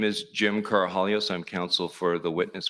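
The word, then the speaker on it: Karahalios: thank you Mr Mather my name is Jim carohalios I'm counsel for the witness Mr Victor the last name is spelled k-a-r-a-h-a-l-i-o-s uh thank you Mr commissioner for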